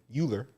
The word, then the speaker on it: Euler: basically this guy named leonard hueller leonard hewlett euler it's e-u-l-e-r if you if you want to know i spell it but it's e-u-l-e-r-i-n eulerian destiny and what